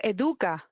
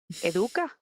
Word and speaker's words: Educa: When I first saw the name, I thought it was Educa, like education, Educa. Yeah, it comes from there, because educar is to teach. So to get education. So educa.